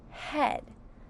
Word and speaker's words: head: Our first word is the word head. Say head. Sound head. Ed. Head. Is spelled with a H. Sounds like a short E, but it's spelled with the vowel team EA in this word.